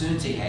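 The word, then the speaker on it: Syntyche: And so Paul is saying, I urge you, both of you, Eudia and Cynthia, Cynthia, I always pronounce Suntihe, excuse me, we'll do it through Greek pronunciation, Suntihe, to be of the same mind.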